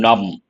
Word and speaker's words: numb: English you have to recollect the word num here the letter B is silent my fingers have become numb imaginextreme a peak winter